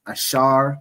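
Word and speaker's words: אשר: So those those countries in between there are predominantly the tribe of Asha right in the Hebrew it's ash pronounced ashar which means happy the symbol is the royal dainties which is typically grapes.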